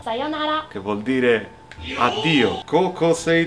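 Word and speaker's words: さようなら: La prossima parola è sayonara, che si pronuncia sayonara, che vuol dire addio.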